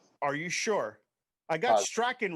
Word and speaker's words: Strachan: Strachan.